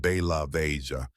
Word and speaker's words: Belavezha: in a government retreat called Bellavvesia, pronounced Ba Laia, to talk about what to do next.